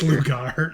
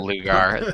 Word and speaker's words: Lugar: think we haven't No, it's Lugar. Not Lugar.